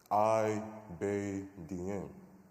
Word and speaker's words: Ibadian: My name, Ibadian, I-Bay-Dien, a symbol of victory and power, would be mispronounced by teachers.